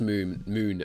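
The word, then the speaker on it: Mün: It's pronounced moon as it's an umlaut.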